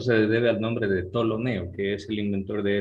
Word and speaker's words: Ptolomeo: Ustedes pronúncienla simplemente como si no existiera la P. Directamente digan tolemaico, el sistema tolemaico. Y a eso se debe al nombre de Ptolomeo, que es el inventor de ese sistema antiguo que ya caducó.